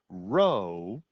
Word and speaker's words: rho: but it's the greek letter rho and it's pronounced er rho is the limit as n approaches infinity of